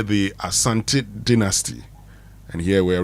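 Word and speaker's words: Asante: So you can say the Asanti dynasty and here we are referring to Kuwasaanti and his people descendants that if they get to rule people anyway.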